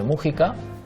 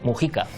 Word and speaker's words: Mujica: en 1935 en Montevideo José Mújica pero que creo que ellos dicen Mujica Sí porque la pronunciación de los apellidos cuando llegan a América pillos vascos suele cambiar y ahí llaman siempre Mujica es una cosa muy